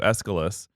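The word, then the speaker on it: Aeschylus: know so according to escalus uh again another name that has a CH in the middle of it that I've been pronouncing correctly and I should have known that CHS are a hard C but whatever escalus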